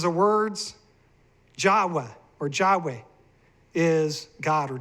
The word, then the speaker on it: Yahweh: 1,800 years before the Messiah came, we find evidence from these tablets in the British Museum, according to Haley's Handbook, confirming that the pronunciation is Yahweh.